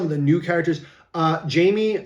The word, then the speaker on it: Jamie: the new characters uh Jamie uh Jaime however you want to say but uh they pronounce it Jamie the announcer um looks